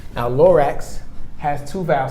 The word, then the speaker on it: Lorax: Seuss is Laura Lorax Lorax right two syllables Lorax say will be